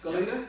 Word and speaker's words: Goleta: Is that how you spell it? Yes. Say it? That's Goleta, yep.